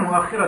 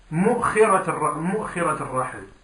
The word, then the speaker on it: مؤخرة الرحل: Tu peux dire mu'akhirat al-rahl بضم الميم وكسر الخاء وهمزة ساكنة, de dire mu'khira ou de dire mu'akhira ou de dire mu'akhara ou de dire bihamza mamdouda wa kasr al-kha ou de dire akhirat al-rihl.